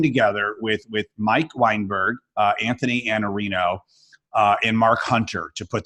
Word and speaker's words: Iannarino: Victor Antonio, Mike Weinberg, Anthony Iannarino, which I learned how to say his last name the right way, right?